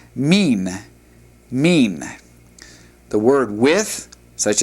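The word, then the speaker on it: מן: The word from is pronounced mean.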